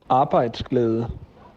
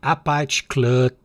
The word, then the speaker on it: Arbejdsglæde: Arbejdsglæde. Então, a pronúncia Arbeitsglad, algo assim.